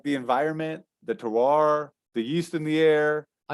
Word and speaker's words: terroir: So the other thing is like, hey man, like the environment, the terroir, the yeast in the air.